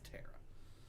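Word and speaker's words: Terra: So T-E-R-R-A. So like that, yeah, T-E-R-R-A. Which is Tara.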